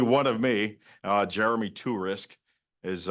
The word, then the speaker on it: Torisk: of me uh Jeremy tur risk is U if you knew it phonetically to risk uh but you risk